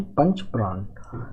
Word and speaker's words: पंचप्राण: तो यहाँ पे देखिए जो हमारे लिए इम्पोर्टेंट है वो है पंचप्राण, सॉरी पंचप्राण, या that will be the correct pronunciation, पंचप्राण।